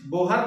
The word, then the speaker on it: Bohr: आज हम लोग पढ़ेंगे बोहर का परमाणु मॉडल उच्चारण में हम उसको बोर का परमाणु मॉडल भी कहते हैं तो बोर में जो